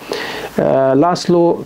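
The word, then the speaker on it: László: هو لازلو كراسنا هوركي بالسين، هنا سين وهنا سين، الاس زد في اللغة المجرية بينطقوا سين أو اس صوت الس. انا ما بتكلمش مجري على فكره، بس انا عملت بحث ودخلت وشفت الالفابت المجري بيتنطق ازاي، والاس والزد لما بيجوا مع بعض بيتنطقوا ازاي، فانا متاكد من المعلومه ديت يعني.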